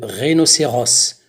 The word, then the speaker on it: rhinocéros: intérêt prononcé incorrectement le rhinocéros on prononce le le s final les peaux potable la